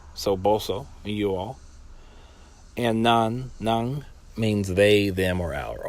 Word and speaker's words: nan: Always remember that the end when you see an N at the end of a word in Papiamento, that it means that you say it like the NG in sing.